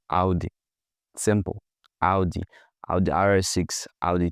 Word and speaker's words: Audi: Audi, not Audi. You don't you don't pronounce it the way you read it as in audio. No, you say Audi.